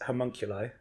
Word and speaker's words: homunculi: but yes um firstly Eddie it's homunculi oh okay that's how you pronounce that word it's used quite routinely